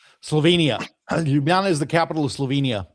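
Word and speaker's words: Ljubljana: Zagreb in 75 and I have no idea how to pronounce this. Yubana. Lugjana. Yeah. Yubana. He did shows there. Slovenia. Lubana is the capital of Slovenia.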